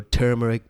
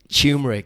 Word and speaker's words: turmeric: put some you know turmeric based dreams on honey I love I love it tumeric it sounds like you spell it with the sea that's right turmeric turmeric turmeric sold you some dye